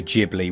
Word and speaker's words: Ghibli: style yes a studio ghibli whatever you want to call it i think it's kind of somewhere in between it's a bit like jubilee if you're going for the the japanese pronunciation knowledge subtle to do